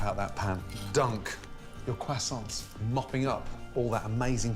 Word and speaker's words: croissant: grill here we go the t is silent there's no w it's croissant then i put the